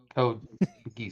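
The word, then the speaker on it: Code Geass: So, how do you pronounce this next one again, Cody? Geese. Code Geese.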